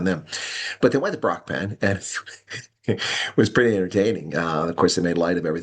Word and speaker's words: Brakpan: off for cons and how they pronounce Brockpan because that's how I pronounce it. Brock Pan uh but someone said Bracken and who speak for cons